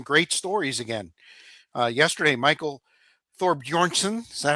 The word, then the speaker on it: Thorbjornsen: Yesterday, Michael Thorbjornsen, is that how you say it? Thorbjornsen?